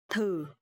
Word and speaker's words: thử: Okay, so here the letter TH, and you will pronounce thờ. And here the toe mark is dấu hỏi, so it will be thử.